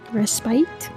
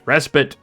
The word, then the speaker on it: respite: word Is resite Res bite it's not res bite it's respit I'm sure it's an